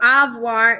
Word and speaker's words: avoir: So avoir is pronounced like ah, so ah with an A. And then voir. V-W-A-R, so avoir. All right, so first subject that we're gonna talk about is je.